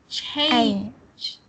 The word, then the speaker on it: change: Yeah, say the A. Change. Change. Change. Change. Change. Okay, say ain.